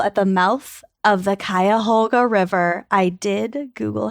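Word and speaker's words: Cuyahoga: in Northeast Ohio at the mouth of the kayoga river I did Google how to pronounce it yeah y I feel like some people say it is cuga I think it's kayoga that's how I always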